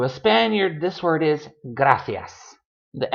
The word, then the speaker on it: gracias: But the C has that th, that th, theta sound. Gracias. I cannot fake a Spaniard accent to save my life, because I will inevitably end up saying gracias and say them both